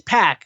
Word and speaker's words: PAC: Puck and then he goes like how's it pronounce basically it's like it's pack and then uh I think it was Austin